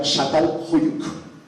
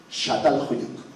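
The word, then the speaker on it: Çatalhöyük: Y se pronuncia Shatal Huyuk. Shatal Huyuk.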